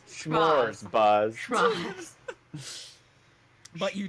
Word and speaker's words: Schmoz: S as in SCHMO, like schmo, only with a Z on the end. They're called Schmoz.